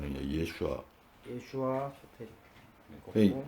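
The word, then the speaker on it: Yeshua: 예슈아. 예슈와 소테리아.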